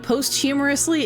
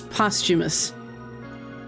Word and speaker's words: posthumous: Also, posth humorously, it's postumous. I It's really funny to me that he did he deliberately mispronounced that or did he do it on accident? Because I know I used to think it was posth humorous as well and my mom thought